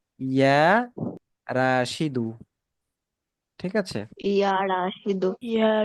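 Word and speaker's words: يا راشدُ: রাশিদুন না, আমরা কিন্তু আগেই পড়ে এসেছি আগের বইয়ে যে ইয়া যখন কোনো শব্দের শুরুতে আসে, তখন ওই শব্দের শেষে কি হয়? তানবিন হয় না, এক পেশ হবে। ঠিক আছে, ইয়া রাশিদু।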